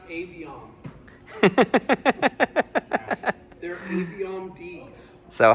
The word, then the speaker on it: Aviom: It's pronounced Aviom.